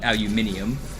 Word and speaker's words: aluminium: everyone who speaks English calls it aluminum except Brits who call it aluminium. They they adding an extra I.